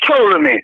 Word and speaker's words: Ptolemy: I told you about Ptolemy. I said, don't pronounce the P with the, instead of pronounce Ptolemy with a T. Leave the P-O. They don't pronounce that.